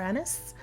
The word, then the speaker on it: anise: choice was star anise which you can say is star anise or star anise star enes both pronunciations are correct so if nothing else